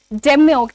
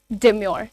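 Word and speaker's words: demure: आगे बढ़ते हैं और बात करते हैं डेमोर की। डम डिमोर। ठीक है? डिमोर अगेन आर को साउंड करना जरूरी नहीं है।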